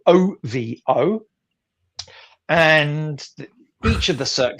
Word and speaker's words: OVO: The show in this instance is called, I believe it's pronounced OVO, OVO.